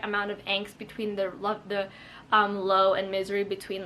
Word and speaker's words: Lowe: see like kind of Low's inner thoughts. I feel like I'm saying Lowe's the store, but his name is Low, and it's spelled like Lowe's the store, just without the S.